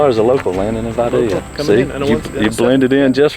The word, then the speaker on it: Vidalia: Yeah, so it was not Vidalia, right? Nope. Yeah. In fact, I've asked everybody, and no one knows how to say it right. Yeah, I try. It's Vidalia. It's with a Y.